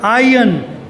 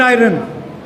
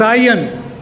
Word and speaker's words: iron: No, iron is no word in the dictionary. It's iron, not iron. It's iron.